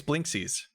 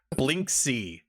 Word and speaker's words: Blinksy: it's his name is blinksies no that's not it that's not at all how you pronounce it blink c there we go bli and ksy blinksy uh the priest looks